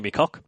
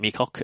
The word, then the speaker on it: Meacock: guy who's called Roger McCock. He pronounced it Meacock. That's not me. You're bastardizing his name, Roger Meacock, who put up on